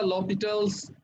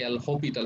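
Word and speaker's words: L'Hôpital: ওকে, এই যে আমি যেটা লপিটালস রুল বললাম, এটা উচ্চারণ কিন্তু লপিটালস হবে বা হপিটাল বলে আর কি, এল হপিটাল, এসটা উচ্চারণ হয় না আসলে, একসাথে বললে লপিটাল অথবা এল হপিটাল।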